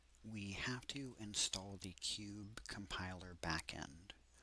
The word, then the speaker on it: QBE: Now what you want to do we have to install the cube compiler back end. I'm pretty sure it's can pronounced cube but it's QBE.